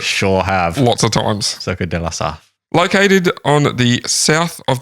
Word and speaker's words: Circuit de la Sarthe: Circuit de la Sarthe. Good job. That's the first time you've nailed a pronunciation in French.